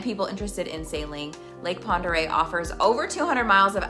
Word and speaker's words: Pend Oreille: home location for the lake Pender I did it I said it wrong the lake Ponder Yacht Club Ponder Yacht